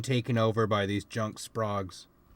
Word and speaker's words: Sprague: these junk sprogs sprags if you ever want to remember exactly how you pronounce um s-p-r-a-g-u-e um think of the radio like uh think of Radio Electronics they had an ad back in the 50s um where the slogan was don't be vague use Sprague foreign foreign